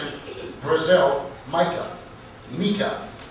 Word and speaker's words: Meica: Meica, Meica. The first syllable is stressed, the second unstressed.